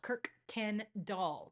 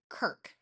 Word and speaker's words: Kuykendall: And Kirkendall, Kuykendall, Kirkendall is how you say that. Some people say Kuykendall, some people say Kuykendall. Kirk, like Captain Kirk.